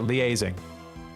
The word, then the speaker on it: liaising: Yeah, that's how you say it, liaising.